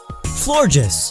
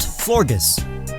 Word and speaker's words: Florges: Florges, like gorgeous, not Florgus.